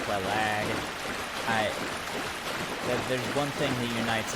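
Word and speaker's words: Quelaag: I pronounce it Quelog. I've heard it pronounced Kellogg. I've heard it pronounced Quelag.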